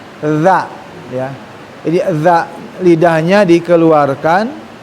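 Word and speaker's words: ذ: dan depan ada huruf dza. Huruf dza. Huruf yang secara makhraj pengucapannya adalah ujung lidah dikeluarkan dan digigit ya tidak terlalu banyak. Dza dza ya.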